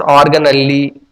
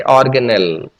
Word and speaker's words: organelle: Okay, some people pronounce organelli or something like that. Okay, you can say organelle.